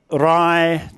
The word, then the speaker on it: Rai: เชียงใหม่ เชียงใหม่เชียงใหม่เชียงรายเชียงรายเชียงราย What you should have heard when she pronounced it is that Rai doesn't quite rhyme with my.